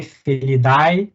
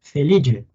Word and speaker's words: Felidae: A gente fala, lê Felidae, mas se pronuncia Felidae.